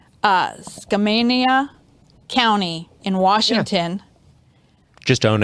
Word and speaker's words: Skamania: In 1969, help me if I say this wrong, Skamania County in Washington.